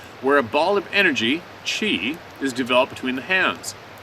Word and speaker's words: qi: In China, internal energy is called qi or chi, and it's pronounced chi.